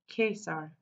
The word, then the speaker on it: Caesar: lower school called him Caesar pronouncing the C as a K like the Latin teacher taught them case R it means Emperor designate